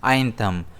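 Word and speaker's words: anthem: इसे हम प्रोनाउंस करते हैं आइंथम। इसमें स्ट्रेस आई पर रहता है।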